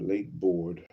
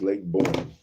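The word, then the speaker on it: Lake Borgne: Not Lake Borg. B O R G N E. How do you pronounce it? Lake Borg, Louisiana pronunciation. Lake Bourne. It's pronounced Lake Bourne.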